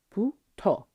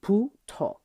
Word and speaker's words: 부터: 부터, 부터. It's not exactly a hard b. It's more like an aspirated b, so it's sort of halfway between a b and a p. So 부터, 부터.